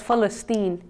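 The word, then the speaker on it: فلسطين: of years its original name in Arabic is pronounced as festine and its inhabitants are called Palestinians the reason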